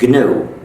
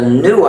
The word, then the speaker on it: GNU: Please pronounce it GNU. If you call it the new operating system, you'll get people very confused.